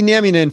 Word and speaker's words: Nieminen: i got it right all right so jesse naminen from uh vemma and he's been so uh